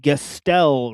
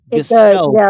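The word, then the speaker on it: Gestell: But Gastel, right? And then like think of it, it sounds like skeleton, right? Gestel skeleton, right?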